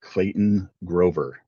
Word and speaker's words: Clayton Grover: And with me today, I have Clayton Grover. Is that correct? Did I pronounce that right?